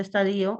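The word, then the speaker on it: estadio: Recuerda que no se tilda, pero se pronuncia estadío, estadío sinónimo de etapa de operaciones formales.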